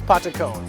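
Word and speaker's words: patacón: This is the amazing, delicious patacon, which Anna has told me how to pronounce correctly.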